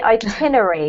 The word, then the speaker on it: itinerary: itinerary yeah so um a lot of people even native speakers spell this wrong because technically its itinerary but because we squish it all in um we forget to pronounce the last part of the word so that's what you'll